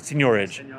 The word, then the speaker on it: seigniorage: That's the, maybe you're mispronouncing it, it's a French word, seigniorage.